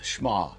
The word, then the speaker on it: Shema: out, it's kind of a funny way to pronounce it, but that's the way it sounds, Shema.